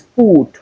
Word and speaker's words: food: The same thing here but the O O D we have here the in place of the O we have the short O but in this particular case we have the long one. So this is good but this is food.